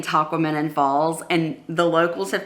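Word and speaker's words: Tahquamenon: they keep saying it's it rhymes with phenomenon and I'm like how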